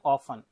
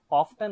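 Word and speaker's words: often: Next है ऑफन। ऑफ्टन नहीं है ये, ऑफन है, यहाँ पर टी साइलेंट है, ऑफन अक्सर।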